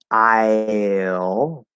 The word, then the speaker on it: I'll: part of it so instead of saying i'll we'll drop the e part of it we'll go straight from the ah to the oh so again it's not